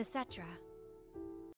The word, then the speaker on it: Cetra: They called themselves the Cetra. Okay, so we were pronouncing it right the entire time.